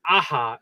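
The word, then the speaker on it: Aja: So David Aha is the correct way to say his name.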